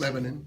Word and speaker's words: Lebanon: I know how to pronounce Sweet Home, but is it Lebanon? How do you pronounce your the city? Lebanon. Lebanon? I put the A in it. Okay, A Lebanon. lot of people just says Lebanon Yeah.